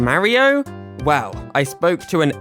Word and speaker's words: Mario: But more than that, when I listen to how Mario in the games says his name, it sounds like “Marry-oh” - the way I say it.